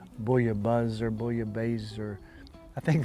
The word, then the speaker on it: bouillabaisse: pronounce this differently but usually in in the french if there's two s's it's not the z sound it's the hard s sound so you might hear some people say boya buzz or bullio bazer i